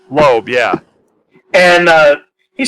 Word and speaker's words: Loeb: Loeb, yeah.